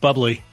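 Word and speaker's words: Bublé: she can't stomach a Buble and I was about to fight her it's pronounced bubbly on the TV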